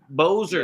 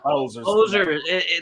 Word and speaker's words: Boser: Yeah, Boser. Yeah. Boser. That rhymes with hoser.